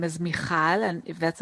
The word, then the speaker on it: Mikhal: me uh to this chat uh as you pronounce well my name is michal and if that's not enough so it's michal